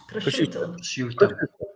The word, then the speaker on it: prosciutto: We've also got Jenki Enki coming back with, also got Brie with prosciutto and prosciutto. How do you say that? Prosciutto.